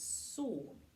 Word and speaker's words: Samhain: sebat was known as Salm which is not pronounced the way it is spelt because the Celts like